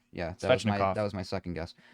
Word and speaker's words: Svechnikov: Can you pronounce that one? What's that one? That's Svechnikov. Yeah, Svechnikov.